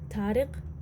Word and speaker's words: Tariq: Among the cacti, Red had queried, Tariq, stressing the Q. She answered, yes, it's written with a qaf, but we pronounce the qaf as a g back home.